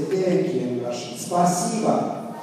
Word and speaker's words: Спасибо: Спасибо. Спасибо. Спасибо.